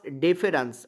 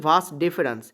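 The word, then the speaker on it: vas deferens: দেহের বাইরে, শুক্রাশয় থেকে দেহের বাইরে শুক্রাণু নিয়ে যায় যে নালিকা, তাকে আমরা বলি ভাস ডেফেরান্স। অনেকে ডিফারেন্স বলে, অ্যাকচুয়ালি উচ্চারণটা হচ্ছে ভাস ডেফেরান্স।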